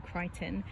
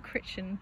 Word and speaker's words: Crichton: jacket so this is rising sun by michael crichton no one told me that that is how you say his name i've been calling him christian ever since i read jurassic park which was